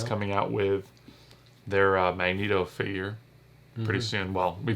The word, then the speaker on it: Magneto: what's his name okay i'm going on record m-a-g-n-e-t-o should be pronounced magneto it's like it cringes me to hear that